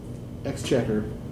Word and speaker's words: exchequer: I, in my additional capacity as treasurer of the exchequer. How is it pronounced?